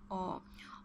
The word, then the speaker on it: awe: सबसे पहला हमारा जो वर्ड दिया हुआ है वो है ओ, जैसा कि आपको नज़र आ रहा है AWE जो वर्ड है इसको प्रोनाउंस करना है ओ।